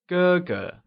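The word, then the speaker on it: 哥哥: let's see another one elder brother becomes googa it is pronounced using the high level tone can you try and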